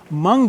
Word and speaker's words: mung: Mung beans has these anti-flatulence factors. Are you kidding? Yes, I'm not kidding. I can't believe it. I've missed mung beans my whole life. Rhymes with dung.